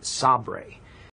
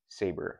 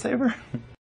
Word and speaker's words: Sabre: have decided to call their saber series named Sab it yes it is pronounced saber you sure it's saber not Sab as I've heard some people say